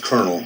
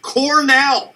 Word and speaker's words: Cornell: about the girl at Cornell pronounced colonel it's the highest rank in the military it's pronounced Cornell who stripped her clothes